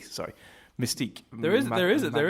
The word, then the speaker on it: Mystique: um Mista how do you say her name Mystique Mystique sorry Mystique there is there is there is a character